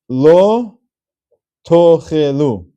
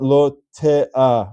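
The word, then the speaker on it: לא תאכלו: Now it happens to be that right before that chaf, there is an aleph, but that aleph is silent. So I'm giving this as an example that when you have that silent aleph, there is no vowel for that aleph. The word is not lo te'a or te'o. That aleph has no vowel symbol to it. So it's actually a silent letter, and it can be ignored.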